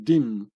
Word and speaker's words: dîme: becoming une dixième or une dîme, pronounced and written like the word dime.